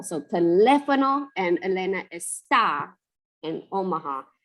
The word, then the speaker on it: está: So teléfono and Elena está in Omaha. If you don't say está and you say esta, then that means this, like this thing.